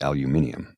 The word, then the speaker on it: aluminium: That's the proper pronunciation, along with aluminium. It's not aluminum, it's aluminium.